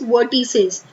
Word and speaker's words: vertices: Okay, the correct pronunciation is वर्टिसेस.